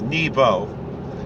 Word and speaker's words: Nebo: It's not a long E, for sure not. It'll probably really technically be more like Nebo, but the way we pronounce it is Nebo, or Nevoi, if you want to be really Ashkenazic about it.